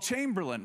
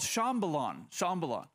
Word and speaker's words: Chambalon: And one day we went to this town that we called Chamberlain. We thought, and we knew, I'll say it like this. So they were going to take us to this town called Chambalon.